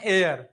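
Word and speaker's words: heir: आहे म्हणून मी अन एअर येतंय लक्षामध्ये आणि याचा उच्चार होतो हेअर एअर म्हणजे केस तर स्टार्टिंग एच पासून झाली दोघी स्पेलिंग सह सारखे पण इथं एच काय आहे सायलेंट इथं एच स्पष्टपणे उच्चार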